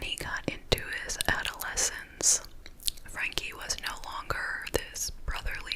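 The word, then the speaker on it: Frenky: So, he created an imaginary friend slash little brother for himself, named Frankie. They spell it F-R-E-N-K-Y, Frankie.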